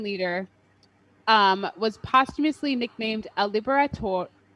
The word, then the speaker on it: Libertador: this 19th century Latin American leader was posthumously nicknamed a libertador.